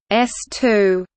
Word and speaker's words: S-II: second stage of the Saturn V, the S2, pronounced S2, the launch vehicle for the Apollo program.